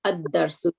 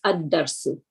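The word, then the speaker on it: الدَّرْسُ: So for because the moon and the sun letters, so here you just say ad-darsu, don't pronounce the lam, correct? So Yep, it's not that's right. all, it's ad-darsu.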